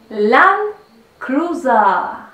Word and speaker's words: Land Cruiser: Land Cruiser, leído en español, pero se pronuncia Land Cruiser.